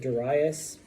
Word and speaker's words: Darius: Some people pronounce it Darius, okay? I go with Darius.